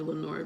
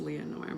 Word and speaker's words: Leonor: beloved Lenore not me some people call me Lenore by the way but my name is actually pronounced Leonor but I remember this